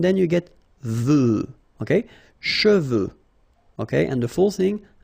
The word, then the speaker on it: cheveux: Usually this one is a bit of a problem because some of the students normally pronounce it chevaux, okay? So try to keep in mind that you get E-U here. So it goes like okay, and then final X not pronounced, sorry, final X, should pronounce it the French way. Final X is not pronounced.